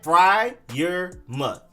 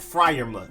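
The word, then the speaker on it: Freiermuth: you have titan pat fry your mutt fryer like when you're cooking something on the fryer and then mud pat fry your mud then you have edge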